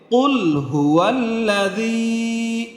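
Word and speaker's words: قُلْ هُوَ الَّذِي: জালিয়াজের জি, উচ্চারণটা হবে কুল হুয়াল্লাযী, জি কিন্তু নরম হবে।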